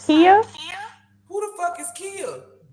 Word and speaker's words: Khia: I thought it was Kaya, It's because in pronounced the Kia. Muslim community, the KH is like Kalia, Khalid. So I thought it was Kaya. I didn't know it was Kia.